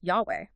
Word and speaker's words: Yahweh: And in the Hebrew tradition, the personal name of God is the tetra grammaton, YH HW, which modern scholars vocalize as Yahweh, which sound almost identical.